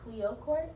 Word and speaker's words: Cleöcrt: pleasure of meeting in return my name is Cleo Court it is spelled c-l-e-o-c-r-t -c-l-e-o-c-r-t-n- I am on every social